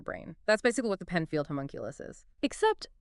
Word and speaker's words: Penfield homunculus: So let's, I guess, start with this idea of the Penfield homunculus. I mean, I don't even know if I'm pronouncing that right.